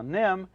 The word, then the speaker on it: NIMH: there with that title now nim is spelled nimh and no doubt some